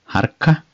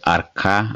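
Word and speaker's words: harka: is called male hand it's called harca sometimes called ARCA as well without h but normal it is harca finger is Cuba Cuba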